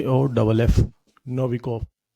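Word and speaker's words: Novikoff: इसको ऑब्जर्व किया प्रेक्षित किया देखा वह था नोविकोव इंग्लिश में स्पेलिंग है इसकी एन ओ वी ई वी आई के और डबल एफ नोविकोव है ना ये नोविकोव तो न नोविक ने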